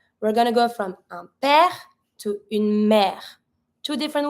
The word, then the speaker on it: père: If you want to say a father and a mother, we're going to go from un père to une mère.